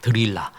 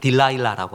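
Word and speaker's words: Delilah: 그 딜라일라가 뭐냐면 드릴라라예요. 드릴라. 드릴라를 영어 발음으로 딜라일라고 합니다.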